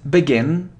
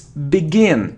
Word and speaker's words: begin: So, it isn't begin, it's begin, e, begin, e, it's a short sound, begin.